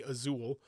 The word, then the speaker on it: Azul: uh Azul aul so aul is what I want to say but I'm sure Loos you white folks say azul and uh it's actually pronounced Azul you're a never mind